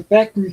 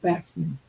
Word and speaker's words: Bachman: Bachman turn or Backman Turner overdrive after Randy pronounces it Bachman.